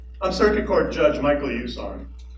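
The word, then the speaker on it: Usan: I'm Circuit Court Judge Michael Usain. It's not the easiest name to pronounce, but I like to think it's easy enough to remember. It's USA with an N on the end, so easy to remember.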